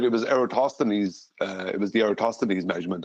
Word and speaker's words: Eratosthenes: It's Eratosthenes.